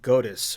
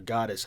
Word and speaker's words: Godus: working on another game called Godus or Goddess. I don't know how to pronounce it.